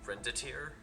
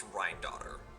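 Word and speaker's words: Rhinedottir: I'm slowly moving away from pronouncing it renditer because I have fully heard it in heard her name in canon. It's Rinotteraughter.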